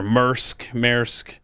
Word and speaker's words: Maersk: So the company, I don't know how you pronounce it. You see their stuff everywhere. Maersk.